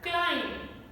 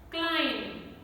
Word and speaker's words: climb: the combination mb so those words which have mb combination where b comes after m letter b is silent for example the word climb climb you see i'm not